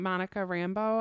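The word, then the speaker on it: Monica Rambeau: really liked in that scene she was wearing Monica Rambo I noticed that's how you say her name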